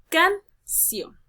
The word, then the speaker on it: canción: Por ejemplo, canción. Lo primero que te separa la palabra en sílabas. Sílaba can, sílaba ción. Y voy a analizar dónde está cayendo la mayor entonación de voz. En este caso va a caer en la sílaba ción. Termina en N, por lo tanto debe llevar tilde obligatoria.